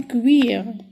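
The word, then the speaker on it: cuir: ما بالنسبة ل U إي تتقرا وي U إي تتقرا وي بحال كوم كوير كوير كوير هو الجلد ديال الحيوان ليس بجلد الإنسان.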